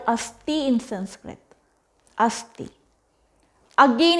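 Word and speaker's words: asthi: Then asti, A-S-T-H-I, asti, which called bone.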